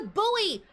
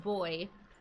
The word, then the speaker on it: buoy: We could take the buoy. There is something. The boy. Sorry. The boy. We learned yesterday that in the UK it's pronounced boy.